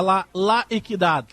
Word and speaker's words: La Equidad: Muito me bateram na pronúncia, que é La Equidad.